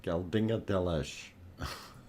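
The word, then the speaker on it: Geldingadalir: Geldingadalash. Or Dalish. Geldingadalish. That's it. Geldingadalish. It's not easy pronouncing Icelandic names.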